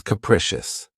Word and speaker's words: capricious: The next adjective, which is one of my favorites, is capricious. This word has three syllables and the stress is on the second syllable. Keep in mind that the first syllable has that schwa sound krecious.